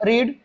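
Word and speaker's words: read: देखेंगे ये जो वर्ब है दोस्तों पढ़ना, रीड, इसका third form रीड, रेड, रेड ही होता है दोस्तों, स्पेलिंग सेम ही होता है।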